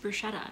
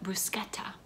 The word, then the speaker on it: bruschetta: Actually, fun fact, our caterer informed me that bruschetta is not pronounced bruschetta. If you want to pronounce it correctly and sound sophisticated and like a person who eats bruschetta, you call it bruschetta.